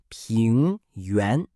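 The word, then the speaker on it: 平原: Next is ping yuan. Ping yuan is pronounced ping yuan and means plain.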